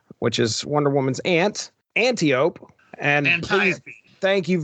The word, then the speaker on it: Antiope: Antiope.